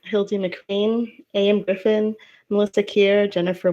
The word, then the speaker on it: Hildie McQueen: I just want to make sure that I have the pronunciation. Is it Ellis Leigh? Yep. Hildie McQueen?